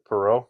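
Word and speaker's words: Perreault: Perau.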